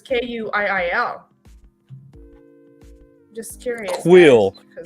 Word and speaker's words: Kuiil: Because on here it says Kuiil. Just curious. Quill. guys, 'cause- It's Quill. Quill. Oh, look at Quill. that's Pronounced not JK.